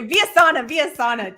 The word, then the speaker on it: Villasana: Or is it Villasana? Is it Villasana or Villasana. Villasana? Oh, I'm so sorry, Richard. Okay, Villasana, dang it. Okay, so Richard Villasana. Richard is spelled just how it sounds, and then Villasana.